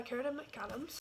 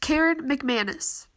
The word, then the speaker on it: Karen McManus: anyways but one of us is learned by Karen McAdams future Sophia here and it's actually pronounced Karen McManus I picked this up and I got like